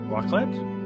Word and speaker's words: raclette: Raclette? Raclette. Raclette. Raclette. Raclette. Raclette. Okay, it's pronounced raclette, but basically it's broiled cheese on potatoes and bread.